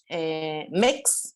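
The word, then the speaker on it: Mx: Bueno, también en Merriam-Webster apareció entonces el MEX, se pronuncia así, MEX como título honorífico.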